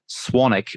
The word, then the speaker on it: Swanwick: But my last name is actually pronounced Swanwick, but Americans don't quite get the silent W.